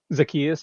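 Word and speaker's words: Zaccheaus: Olamide, I believe it's pronounced Zacchaeus. Zacchaeus, yep.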